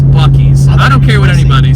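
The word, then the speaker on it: Buc-ee's: we've already been at Bucky's so that's that's already fulfilled my trip is that how you say it that's not because it's buckies I don't care what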